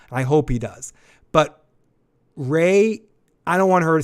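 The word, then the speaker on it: Rhea: section for correcting me for mispronouncing Ray's name for pretty much the run of talking about this show. I think I called her Ree.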